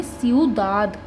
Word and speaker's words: ciudad: Word की pronunciation होगी स्यूदाद। IU साथ में है तो EU, और DA साथ में दा, स्यूदाद। स्यूदाद का इंग्लिश में मतलब होता है सिटी, तो स्यूदाद प्रोनाउंसिएशन हो गई इसकी।